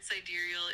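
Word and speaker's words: sidereal: The word cidurial is pronounced like cidurial.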